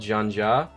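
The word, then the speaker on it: xianxia: Except there were a couple of people, because Cradle's also very inspired by a genre of Chinese fiction called Zhanja, or cultivation. And spelled with an X, by the way.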